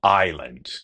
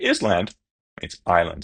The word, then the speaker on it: island: So, we have island. Yes, as in Hong Kong Island. It's not is island.